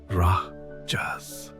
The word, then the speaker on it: rajas: Something the ancient sages called rajas pronounced rajas.